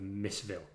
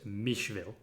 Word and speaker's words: Missville: the downtrodden town of Missville. The locals insist it's pronounced Mishville, but the rotten performances of their Blood Bowl team mean that the Missville moniker has stuck.